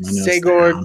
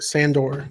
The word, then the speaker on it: Sandor: I forget how you pronounce his first name. Sagor Clegane. Sagor Clegane. Sandor Clegane.